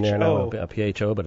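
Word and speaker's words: Phở: PHO, but it's pronounced Pho.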